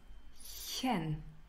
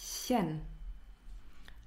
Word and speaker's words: -chen: The first one is chen. I know it's difficult to pronounce. Once more. Chen.